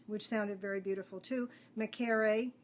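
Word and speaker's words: Mekare: Makere is the way the other twins' name was pronounced.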